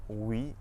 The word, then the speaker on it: oui: OU at the start of the syllable makes a W sound, just like in the words woman and west. Some French examples of this are oui and ouest.